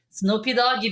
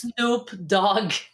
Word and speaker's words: Snoop Dogg: back then, early 2000s, Snoopy Doggy, baby. And then I said that, and this guy was laughing so hard. It's Snoop Dogg.